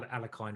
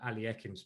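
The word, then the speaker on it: Alekhine: I by the way I finally was told how to pronounce alakin aliim someone told me that only a couple of weeks ago i' be calling him Al alakin All My Life um but alim's apparently how you say it it could be Li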